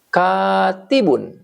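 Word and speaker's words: كاتبٌ: Sekarang bacanya itu jadi gini. Katibun gitu. K-nya jadi panjang. T-nya jadi kasrah. Bnya tadi jadi un.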